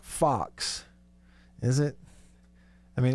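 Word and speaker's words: Fuchs: it that way and it's pronounced like fox like the little animal running around the yard then more power to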